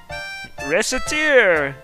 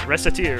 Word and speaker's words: Recettear: Recettear! We're partners, right? You said so. For Recette and Tyr together, it's Recettear.